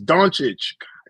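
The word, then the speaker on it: Dončić: Luca's name bro please say it right it's donic Jesus okay okay we're getting sidetracked with the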